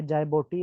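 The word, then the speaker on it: Djibouti: चौथा ये जायबोटी आ गया, इसमें डी साइलेंट है, जे से पढ़ेंगे, जायबोटी, जायबोटी।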